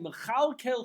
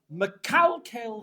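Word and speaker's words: מכלכל: And he says, when he gets to Shemona Esrei, Mechalkel Chaim B'Chesed, he says, Mekalkel Chaim B'Chesed. God with Chesed destroys the whole world.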